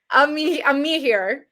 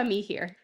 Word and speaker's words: Amihere: Amihere. Leticia Amihere.